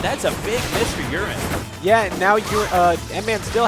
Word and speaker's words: uran10: It is uran10, by the way. I haven't mispronounced it. It's a soft A sound.